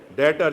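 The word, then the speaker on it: debtor: और ये कौन हुए जिन्होंने लोन लिया, डेटर, जिसे आधा ज्यादा कराची डेप्टर बोल रहा होता है, क्योंकि डेबिट है तो डेप्टर बन गया, हालांकि ये डेटर है, भी साइलेंट है इसमें।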